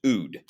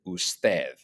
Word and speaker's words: usted: Now, it does not mean that it's pronounced ood, okay? Just like I would never pronounce the abbreviation Mr. MR period. I would never pronounce that mer. Don't pronounce ood, pronounce it usted, all right?